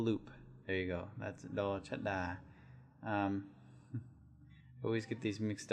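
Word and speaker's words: ฎ ชฎา: So the first one is do chada, and it makes the exact same sound as do dek.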